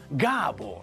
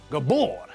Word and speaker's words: Gábor: It's Gábor, not Gabor.